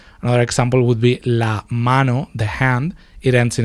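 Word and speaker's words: hermano: The h is silent in Spanish. Mano mana.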